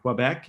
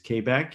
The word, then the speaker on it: Quebec: Um, it is not Quebec, it is Quebec. And at some time in the future, I'll explain to you why the different pronunciations is so important for us economically in Maine, particularly on energy issues that we know it is a Quebec and not a Quebec.